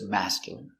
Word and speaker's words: masculine: girl the dog looks masculine pronunciation masculine m a ma s Mass C mask y mask y y Mas Mas masc mascul i mascul m masculine masculine masculine stress on the first syllable mask masculine masculine masculine